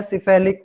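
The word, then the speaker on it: cephalic: इसका प्रोनाउंसिएशन याद रखना है, सिफेलिक। मुंह से बोल के देखो सब, सिफेलिक।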